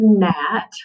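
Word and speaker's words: gnat: all right so here's the word nat we have the gn digraph mark that g silent and then of course we have a vowel and a guardian so we have a short a nat we want to swat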